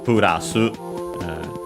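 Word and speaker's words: プラス: the plus mostly read simply as purasu plus in Japanese.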